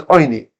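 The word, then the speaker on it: עני: It's written oni, but it's pronounced. The tradition is we pronounce it with a cholim.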